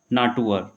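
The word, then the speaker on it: Natur: अगर भाई आर कहीं हमारा इस तरह से लास्ट में दिया हुआ है तो उसको क्या पढ़ेंगे अर पढ़ेंगे। तो ये क्या हो जाएगा हमारे पास नाटुअर। ओके, अगला देख लेते हैं भी।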